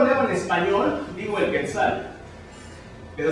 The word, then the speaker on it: quetzal: Si yo lo leo en español, digo el Quetzal. Pero si yo lo leo en náhuatl, digo Quetzal. Esto quiere decir que en náhuatl toda la pronunciación es grave.